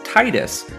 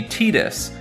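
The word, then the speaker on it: Tidus: have interesting theories that this name is Titus because the game deals with the sea and things like water tide however officially it's definitely meant to be tetus and thus the pronunciation this video uses and too many official sources have confirmed this to be true references to other media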